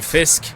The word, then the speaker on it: Fisk: Braden Fisk. I was pronouncing his name Fisky this whole time. Fisk. Braden Fisk.